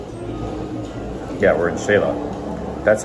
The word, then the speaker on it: Xela: Yeah, we're in Shayla. That's how you pronounce it, Doug. X is pronounced like sh. Shayla.